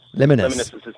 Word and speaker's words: Liminus: Liminus. Liminus.